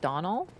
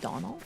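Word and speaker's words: Domhnall: Pronounced like Donald. I always try to hear how he says his name, but he talks so fast that he's like, "I'm like what?" So, Donald is just Donald.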